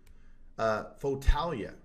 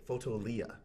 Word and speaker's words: Fotolia: And it's called, this is number 3, Fotalia. Now, I'm going to be honest with you. I'm probably pronouncing that wrong. It's Fotolia. Fotolia.